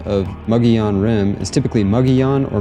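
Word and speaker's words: Mogollon: mugon rim is typically mugon or mugon it is often mispronounced by tourists as Mongolian at least I didn't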